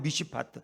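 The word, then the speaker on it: מִשְׁפָּט: 성경에 많이 나오는 미시파트. 하나님은 정의의 하나님이야. 근데 포하기라는 것은 미스파우야. 그러니까 발음이 너무 비슷해. 미시파트나 미스파우나.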